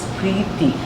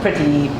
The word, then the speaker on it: Preeti: week and it may say my name is Preeti breathe p of course breathing p r e TI and it means love so it doesn't mean having a lot of people called me pretty petri dish or just like me people have